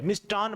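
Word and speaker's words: मिष्टान्न: यानी आप जाओगे तो मिष्ठान भंडार लिखा होता है तो मिष्ठान ठ नहीं है ये ट है मिष्टन भंडार है ये क्या है मिष्टन भंडार ऐसे मान लो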